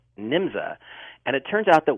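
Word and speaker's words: Nymza: an organization in Germany called nimsa n-y-m-z-a and and some spellings have it njmza but it was still pronounced nimza and it turns out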